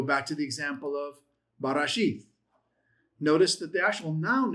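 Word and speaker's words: בראשית: Barashith. Your pronunciation, you just blend it together, but grammatically you separate it for the purpose of parsing it.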